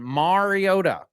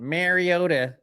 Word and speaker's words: Marcus Mariota: Marcus Mariota who that that is the correct pronunciation. Mariota. Okay. Not Mariota or Mariota as Roger Goodell said when he was drafted. He said Mari, it's Mario with an A.